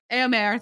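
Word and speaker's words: Éomer: Eomer, thank you.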